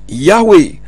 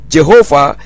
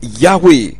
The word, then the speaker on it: Yahweh: the name was pronounced Yahweh. Volume 7, 1972, page 680. Demikian pula dengan Unger's Bible Dictionary menjelaskan sebagai berikut. Yahweh, the Hebrew Tetragrammaton, YHWH, traditionally pronounced Jehovah, is known to be correctly vocalized Yahweh.